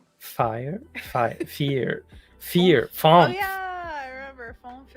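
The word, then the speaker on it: vier: V is pronounced F. Fire. Fear.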